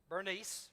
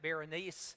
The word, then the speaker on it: Bernice: A few days later, King Agrippa and Bernice, we're going to call her Bernice. She actually has multiple names in Greek. You could pronounce it, some people pronounce it Berenice, some people Bernice.